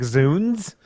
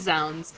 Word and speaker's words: zounds: So did I say it wrong? Is it more like Zunes? No, I think it is zounds.